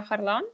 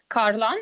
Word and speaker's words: Kharlan: uh sweden yeah so my name is alexandra harlan um carlon as they pronounce it in sweden i'm 37 years old